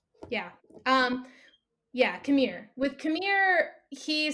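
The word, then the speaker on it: Qimir: And so with Kira, am I pronouncing that right? Yeah. Yeah, Kamir.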